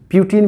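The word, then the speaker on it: Putin: पुतिन कहते हैं ना, अभी पुतिन सब बोलता है, पुतिन हिंदी वर्ड है, पुतिन है ना, कहता है ना, प्यूटिन भी बोलता है इसको, अमेरिकन सब का प्यूटिन बोलेगा, देखोगे प्यूटिन। अमेरिकन प्रोनाउंसिएशन और ब्रिटिशर्स प्रोनाउंसिएशन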